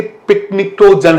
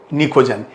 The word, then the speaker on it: pnictogen: और मैंने आपको बताया है कि दिखता तो ऐसा लगता है कि पिकनिक्टोजन है, लेकिन प्रोनाउंसिएशन इसका क्या है? निकोजन, PNICTOGEN।